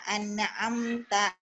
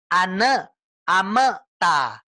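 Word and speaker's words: أَنْعَمْتَ: nya dibanyakin an amta jadi ibu baca tidak an-na'aam mata itu ada kecil bu seolah-olah kita bacanya ane ameta anak ameta jangan ya Coba buruan amta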